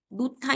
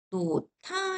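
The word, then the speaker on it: 놓다: 간단하게 예를 들면 노타 있죠? 그지? 그러면 발음을 할 때 어떻게 되냐면 요렇게 되는 거예요. 요렇게 해 볼게요. 점을 찍어 보면 히하고 디귿이 만나죠? 그지? 그럼 어떻게 되면 돼? 노타. 이렇게 되면 돼.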